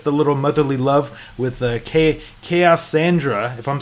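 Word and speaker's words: Kaossandra: And I think when she's talking with Golden Queen, and she's like, yeah, it's just Cassandra. It's like a silent O or something like that.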